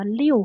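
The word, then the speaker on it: 六: ตัว อักษร sinter นี้ อ่าน ว่า ลิว ค่ะ นัก เรียน เคย เรียน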